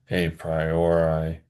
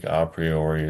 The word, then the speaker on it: a priori: so-called innate ideas or a priori some people say a priori. I think opriori is more faithful to the restored high classical pronunciation of Latin.